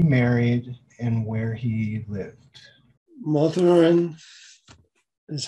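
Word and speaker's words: Mathurin: canada who he married and where he lived malthurin is how it's pronounced m-a-t-h-u-r-i-n cadeau he would have been c-a-d-o-t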